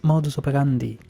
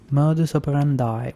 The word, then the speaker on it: modus operandi: contradictory to their usual modus operandi modus operandi is that how you pronounce it I thought it was moderandi modus operandi well I learned something today did principal kobayakawa seem